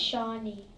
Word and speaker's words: Shawnee: The Shawnee Indian Tribe, pronounced Shawnee, by Trisha, TJ.